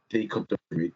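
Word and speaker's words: Bobby Reid: Reed, that's how you say his name.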